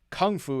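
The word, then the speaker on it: 功夫: I like to know that Kung Fu is said in America and Gong Fu is said in China.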